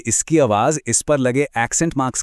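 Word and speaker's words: parle: और अगर इस पर कोई एक्सेंट है ही नहीं, तो ज्यादातर ये शब्द के आखिर में साइलेंट हो जाता है, जैसे पार्ले में। इसे पार्ले नहीं, सिर्फ पार्ल बोलेंगे।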